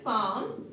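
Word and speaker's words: palm: लगा दिया दें नेक्स्ट इस पाम यहां पर भी एल साइलेंट है तो यहां पर भी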